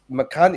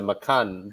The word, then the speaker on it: Macan: He said, "Guys, you're saying all wrong, because Macan is based on the Indonesian word for tiger, right?